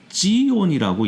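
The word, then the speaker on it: ציון: 우리말로 시온이라고 돼 있지만 히브리어로는 찌온이라고 읽어야 되는데요.이 찌온은 바로 하나님의 임재의 초서를 뜻하는 관용적인 표현이에요.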